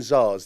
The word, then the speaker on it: tsar: say the first word why if they put a t at the start then right we go we go it's called the tsar bomb yeah and it says